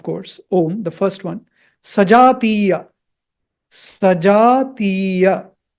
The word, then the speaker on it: सजातीय: Sajātīya. Sajātīya. So you see the horizontal bar on A and I. So you have to extend that sound. Dhirga. It is called Dhirga. Sajātīya.